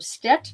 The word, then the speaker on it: Stet: She's originally from Stet, Missouri. Is that the correct pronunciation?